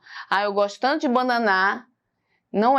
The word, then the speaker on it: banana: Eu vou pegar o ba mais forte, ó. Eu vou na feira e falo assim, ó. Banana, me dá uma banana.